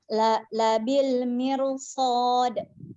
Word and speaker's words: بالمرصاد: Nah, kita perhatikan ro-nya kan sukun. Setelahnya huruf mim berharokat kasroh, kan biasanya itu dibaca tipis kan, tapi setelahnya itu ada huruf sod yang huruf tebal. Jadi kita bacanya tebal.